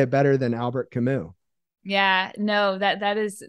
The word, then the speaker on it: Albert Camus: said his name was albert hamis but i believe it's albert camus the s is silent apparently um i've been corrected